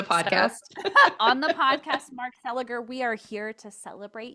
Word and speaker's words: Seliger: properly on the podcast on the podcast Mark seliger we are here to celebrate you and your